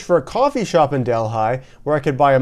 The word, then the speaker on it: Delhi: but the difference is that in India they pronounce the word Delhi, where this one is pronounced Delhi.